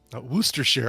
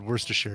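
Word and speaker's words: Worcestershire: way they pronounce it is the correct one wer share oh I pron I said Worster share yeah wer share okay thank you CL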